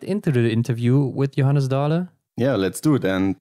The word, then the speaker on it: Johannes Dale: In Germany, we would say Johannes Dale, but I think that's not how you do it in Norway, right? Yeah, it was not so far off, actually. Okay. If I should pronounce it in Norwegian, it would be Johannes Dale.